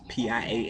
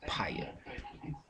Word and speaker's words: Piaa: That's Piaa. It's pronounced P-I-E-Y-A. Piaa.